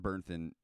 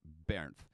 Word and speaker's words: Bernth: It's pronounced Bernth by most English, but it's actually pronounced Bernth, and because he's Austrian.